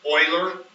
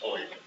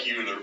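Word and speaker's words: Euler: okay does everybody say Oiler that's how you pronounce that it's Oiler it looks like uler but it's Oiler Oiler and then a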